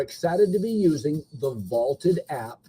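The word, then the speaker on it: VLTED: to be using the vaulted app it's spelled v-l-t-e-d vaulted is a place where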